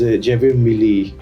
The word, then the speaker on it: Javier Milei: ابھی جو current president ہیں ارجنٹینا کے, جیویر میلی, apparently if I'm pronouncing it right or wrong, it's Javier Milei, that's what his name is.